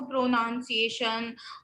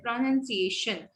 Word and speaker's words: pronunciation: कितने सारे बच्चे इसको pronunciation और पता नहीं क्या क्या, प्रो पे जो है वो स्ट्रेस नहीं है, स पे स्ट्रेस है, pronunciation, documentation, yes, very good.